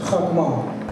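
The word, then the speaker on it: חכמה: The Hebrew word for wisdom is Chokmah, spelled in Hebrew, He, Mem, the Hebrew word for wisdom is Chachma, which is spelled He, Kaf, Mem, He.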